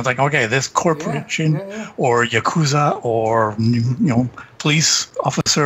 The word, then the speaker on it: Yakuza: it's yeah cuz i Yakuza the emphasis is on the first syllable your fascist okay usually I've heard tomato tomahto and you're Canadian so okay a lot a lot of Americans pronounce it Yakuza Yakuza yeah I've always